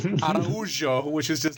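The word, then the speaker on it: Araújo: This is like, do you remember when we tried to pronounce, what's her name, that flyweight, and we were going, Arajo, and it turns out it's Araujo, which is just like completely wrong.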